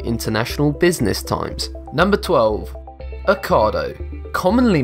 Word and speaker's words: Ocado: It's pronounced like avocado, without the av. Ocado. Ocado.